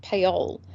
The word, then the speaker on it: Paole: we thought it was we both thought it was Arnold pool and uh We've recently been hearing more and more people pronounce his name as Arnold Paul ah interesting correct Matt